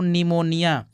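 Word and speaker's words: pneumonia: इसको नहीं पढ़ पाएंगे यहां पी साइलेंट है दोस्तों इसको पढ़ते हैं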